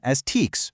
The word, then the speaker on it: TEKS: Whenever we talk about our state standards today, we're going to pronounce the acronym STEEKS, rhyming with leaks.